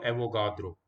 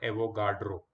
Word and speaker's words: Avogadro: Amadeo Avogadro. Please learn to say his name properly. It is not Avogadro. It is Avogadro. He was an Italian.